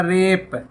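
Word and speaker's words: wrap: डब्लू लैंट खोला जाएगा रैप लपेटना कि यहां पर आर से पहले डब्लू आ रहा है तो डब्लू साइलेंट है और है तो यहां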